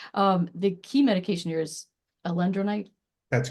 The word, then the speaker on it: alendronate: The bisphosphonates, I am not good at pronunciation. The key medication here is alendronate.